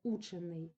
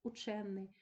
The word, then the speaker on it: учений: із наголосом на корені учений - це дієприкметник і з наголосом на суфіксі учений - це прикметник варений дієприкметник варенний прикметник Далі ви бачите теж